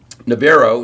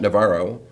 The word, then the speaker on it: Navarro: Navarro, not Navarro. Erath instead of Erith. Not Montague is actually pronounced Montag in Texas.